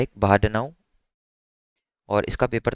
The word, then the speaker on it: Bahdanau: तो उसके लिए एक पेपर आया है 2015 में, बाहा, इसकी स्पेलिंग बहुत ज़्यादा अजीब है, बट ये बंदा है एक बाहाडनाउ, और इसका पेपर था जिसमें इसने अटेंशन मैकेनिज्म को इंट्रोड्यूस किया था इन 2015।